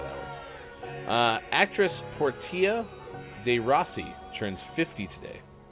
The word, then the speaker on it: Portia: Wait, that's how you say it, is Portia? Yeah. Not Portia? Nope.